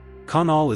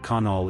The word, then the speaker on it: Conall: Pronounced k u n l. Conall is built from old